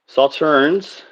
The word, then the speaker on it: Sauternes: Category is called Sauternes, which actually I was saying it right.